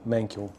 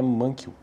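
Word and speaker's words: Mankiw: Bom, se fosse para e pronunciar isso de forma correta mesmo, seria de outra maneira, né? Eu acredito que seja que seja Gregory Mankel, mas vamos estamos no Brasil, então eu pronuncio do jeito que parece para mim aqui que é Mankw.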